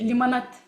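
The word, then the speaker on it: лимонад: In Russian, we say limonad. That's what Russian people like to say it like this.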